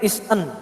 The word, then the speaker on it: ISA: Jadi cara bacanya sekretaris is an, bacanya begitu. Is an employee.